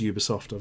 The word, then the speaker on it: Ubisoft: Yeah, it's pretentious thinks it's that, but I've actually asked their PR company how you pronounce it. It absolutely is Ubisoft.